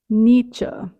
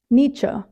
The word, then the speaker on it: Nietzsche: second one was the second search it was pronunciation for the word Nietzsche Nietzsche so Frederick Nietzsche that's what came up with